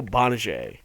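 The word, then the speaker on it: Gbinije: His name is Michael Bonnier, but it's spelled GBI Bonnier. Just cut the G off.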